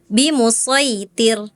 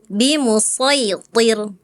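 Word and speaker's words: بِمُصَيْطِرٍ: Ya, tadi kakak baca gini. Bimusitir harusnya bimusitir. Bimusitir gitu ya. Kalau th itu tebal.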